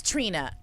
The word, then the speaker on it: Trina: And I was like, no, her name is Trina. Like the rapper. Like just Trina. Like everybody I've ever met named Trina. That's how you say it. She's like, it's Trina.